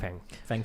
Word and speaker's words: Fang Fang: Fang. Fang Fang? Technically, with my very good Chinese pronunciation, it would be Fang Fang.